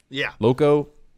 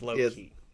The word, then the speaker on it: Loki: Am I talking loco? No, it's going to be the confusing. Show's pronounced Loki.